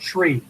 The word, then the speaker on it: three: zero one two three notice three is pronounced tree four five six seven